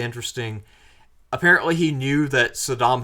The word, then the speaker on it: Saddam: Apparently, he knew that Saddam Hussein's name was not pronounced Saddam, but he said it anyway because it pissed Saddam off.